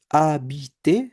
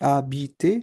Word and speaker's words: habiter: So the verb that ends with er, for example, parler, to speak, habiter, remember h is silent in French, habiter, to live, manger, to eat, rester, to stay, and préparer, to prepare.